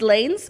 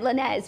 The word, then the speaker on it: Lanez: According to my track record of pronunciations, you pronounced Tory Lanez's name wrong yesterday. It's Lanes? What did you say? It's Lanes, and I said Lanez, which is really...